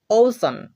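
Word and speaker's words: ocean: ওসন, ওসন, একটু ভালোভাবে লক্ষ্য করো, এখানে দেখো আমরা সি এর পরে একাধিক ভাওয়েল পাচ্ছি, ই এবং এ, এই দুইটাই কিন্তু ভাওয়েল, তাই এখানে সি এর উচ্চারণটা কি হচ্ছে, হ্যাঁ তালব্য স এর মতো হচ্ছে। ওসন এর অর্থ হচ্ছে মহাসাগর।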